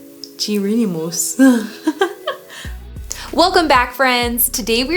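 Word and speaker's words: Géronimos: Gironimos.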